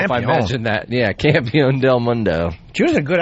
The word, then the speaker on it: Campeón: Campeón with the accent and everything. Mundo. Yeah, I'm a very authentic Campeón. accent. I don't know if I mentioned that. Yeah, Campeón del Mundo.